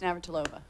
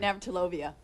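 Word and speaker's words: Navratilova: her for 15 years how does she pronounce it no it's naver tolova i kind of went navtolovia oh okay uh that's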